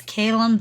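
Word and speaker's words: Caelum: I would pronounce that as Kalum, but I know it's somewhat I don't know if it would be pronounced that way in more Celticy languages.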